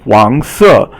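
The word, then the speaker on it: 黄色: And 黄色, 黄 is second tone, and then 色 is fourth tone.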